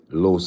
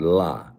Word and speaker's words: los: I mention Edwin de los Santos I always say Los not LA because La is feminine and I know I've